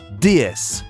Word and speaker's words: DS: Le nom DS qui se prononce DS en français, la déesse.